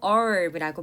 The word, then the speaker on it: herb: 영어로는 미국식으로 herb라고 발음하는데요. 영국식으로는 H 발음을 살리기도 합니다.